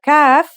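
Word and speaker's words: ك: learn today is calf the calf is pronounced just like the English K you how to ride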